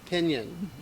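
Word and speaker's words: piñon: just so you know pinyon is spelled p i n with the little enyay i think it is a little swirly girl on top o n p-i-n-o-n pinion yes and as we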